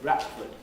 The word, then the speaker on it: Bradford: very much he died he would tend to say bradford instead of bradford which is what most bradford folk do say but the normal educated pronunciation of that one is bradford so i know i